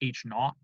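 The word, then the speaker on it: H₀: So, the null hypothesis, which is written H sub 0, often pronounced H naught.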